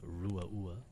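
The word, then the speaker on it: Ruadh Ua: I usually go like, like kangaroo, like, and then ah.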